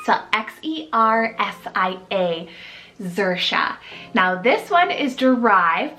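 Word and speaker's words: Xersia: And another great X option, guys, is Xerxia, so X-E-R-S-I-A, Xerxia.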